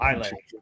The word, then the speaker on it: Islay: Oh, Islay. Islay. Yeah. Islay. Yes, it's the S is silent like the P in Bath.